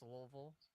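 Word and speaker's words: Louisville: it's out there at lville it's and it pronounced lville so uh blade and bow comes with a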